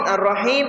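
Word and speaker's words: ٱلرَّحِيمِ: The Ra in Ar-Rahim is read lightly because it is preceded by a kasra.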